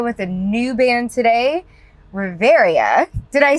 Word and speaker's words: Reverya: I am here with a new band today, Reverya.